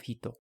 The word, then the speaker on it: ひと: The Japanese and Koreans also have their own ways to say 1, which is why the Japanese have an additional reading of hito.